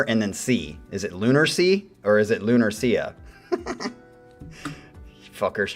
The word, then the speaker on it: Lunarsea: I thought it was lunar. Well, you have an A there. Lunar, like lunar, moon.